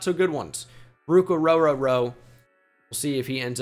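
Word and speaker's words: Orhorhoro: starter sooner rather than later Minnesota Vikings go ruk ororo that's how you pronounce it it's Scooby Do here uh on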